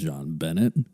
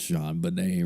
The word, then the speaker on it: JonBenét: now i didn't know at all how to pronounce her name i thought it was john bennett clearly i did not take french or anything